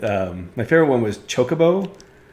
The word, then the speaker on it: chocobo: my favorite one was chocobo everybody pronounces that one wrong but i never did i don't know why well i always call them chuck chop chocobos yeah they try and pronounce it like chocolate i guess which i